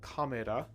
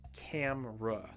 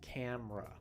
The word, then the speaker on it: camera: picture with her camera remember that it's not the japanese word kamera you want camra two sounds camera try a little more